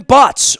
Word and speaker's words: Butz: wound up getting an email uh from steven butts rhymes with us which is local enough he is